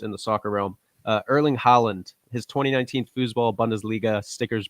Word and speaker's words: Haaland: It's Good. Erling Haaland. Haaland. And so, a lot of people say Haaland.